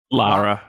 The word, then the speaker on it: Lara: Laura Croft. Lara. Lara. Lara. Well, she's from the UK, so I'm pretty sure they say Laura. It's spelled Lara. Lara. Lara. Lara. Lara. Everyone say Lara.